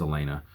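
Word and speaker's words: Aliena: as I read it the audio book had it as Ellie Ellie aina I think is how they pronounced it I saw it as Elena so Philip Elena Tom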